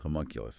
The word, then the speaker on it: homunculus: guess start with this idea of the Penfield homunculus I I mean I don't even know if I'm pronouncing that right you got it it sounds